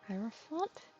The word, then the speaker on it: Hierophant: I knew I was saying it wrong, the Hierophant.